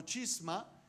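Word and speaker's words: σχίσμα: vamos a ir a la palabra griega que se dice o se pronuncia como chisma, derivado en el latín schisma, que llegó al castellano como chisme.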